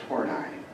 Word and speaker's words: Horney: Adler said yeah so horney really just by the way it is pronounced four nine I just want to